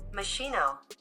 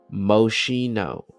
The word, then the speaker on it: Moschino: Machino. Mushino. Mushino. Okay. Yeah. Yeah. You got some mushino. Common misprononunciations. Moschino. Moschino. Okay. Moschino. Uh, as you can see